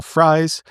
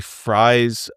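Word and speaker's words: Fries: is right guard Will Fry. Um, you know, my name is F. It is spelled F R I E S just like Will Fry's last name. He pronounces it Fry.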